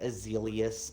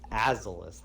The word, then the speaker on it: Azalus: They'd be like Azelius, Azalea. I'm like, the fuck? Where are you putting these extra letters? Azalus. Yeah, they would say Azelus. It's like, no, it's Azalus, like Azalus, like Azazel, but Azalus or something.